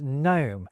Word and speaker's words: gnome: It's when the K and G stop being pronounced at the start of words like night and gnome.